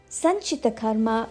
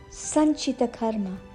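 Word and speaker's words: Sanchita Karma: let's move on to San Karma San Karma refers to a collection of all our past actions from our previous lives now let's focus on the pronunciation Sun like sun Chi short Chi not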